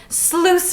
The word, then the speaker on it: sluice: Rosalie's letting the blood sluice from her dress. Sluice spelled like juice.